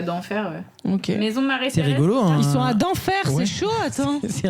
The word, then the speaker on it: Denfert: C'est rigolo d'un EHPAD pour prêtres et religieux qui est à Vous d'enfer. savez, j'ai jamais fait le lien Oui. parce que ça s'écrit D-E-N-F-E-R-T, mais c'est vrai que c'est.